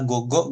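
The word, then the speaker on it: 五: Tapi bisa dibacanya go nanti keseringan nih untuk di N5, N4 Go.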